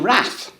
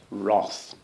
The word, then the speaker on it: wrath: Just because it's spelt with an A, it's our language. We British people have the right to mangle it in any way we like. It's wrath. Actually, that's the old Norse pronunciation.